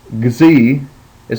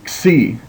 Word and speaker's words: xi: letter is X, and I want you to hear how I pronounce that. X. It's almost like you make like a G and a Z together. Gz, gz, and that is, of course, it makes the X sound as in axiom. So some people pronounce it as gz, and some people just say xi, xi, like you're making an X sound.